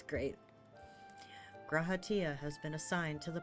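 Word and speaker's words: G'raha Tia: introduction is in order say yeah gratia that's how You' say his name yeah I am graaa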